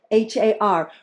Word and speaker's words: Har: we're chanting the mantra H A R Really pronouncing that R like an L or a D Flicking the tongue up against the upper pallet Har Har Har The